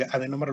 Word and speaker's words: adenómero: Adenómero, así como se escucha tal cual, adenómero. A-D-E-N-O-M-E-R-O, con acento en la primera O, adenómero.